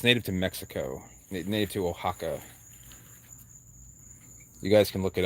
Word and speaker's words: Oaxaca: So exactly, Zach, Oaxaca. You spelled it right. Most people think it's spelled like Ohaka or something.